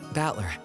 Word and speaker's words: Battler: japanese pronunciation so far the problem is my given name is made up of the characters for fight and person and it's pronounced battler put it all together